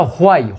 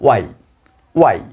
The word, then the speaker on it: why: আমরা এই WHY এর উচ্চারণটা হোয়াই, হ বলি, হ। অ্যাকচুয়ালি হ নয়, আমরা রিয়েল অর্থাৎ রাইট প্রোনাউন্সিয়েশন যদি করি আমরা বলবো ওয়াই।